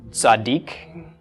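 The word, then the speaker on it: צדיק: And this is pronounced, got the tsa of the tzadi, the a of the patach, D of the dalet. Chirik plus yod is a long E sound, which usually is transliterated as just an I. And then the K or the Q of the kuf. So tzaddik.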